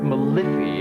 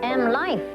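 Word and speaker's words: MLife: You know, Gigi, I see this word Malifi everywhere. It's pronounced M-Life, Jim.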